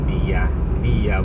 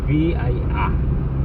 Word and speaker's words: Via: Depends upon your country how to speak English, because we are Filipino, we could say V-I-A. It's a soft English. At kung sa Italiano naman, ang mag-pronounce ng Via, V-I-A, Via.